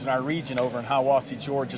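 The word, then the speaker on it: Hiwassee: Yeah, they pronounce that Hiawassee.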